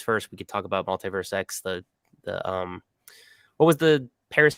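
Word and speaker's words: MultiversX: But multiverse, kind of like in Marvel, is how you pronounce it.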